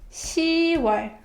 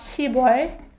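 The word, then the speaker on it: 시월: how to say October you should be careful with the pronunciation right it's see why right see why not see boy cy and fifteen see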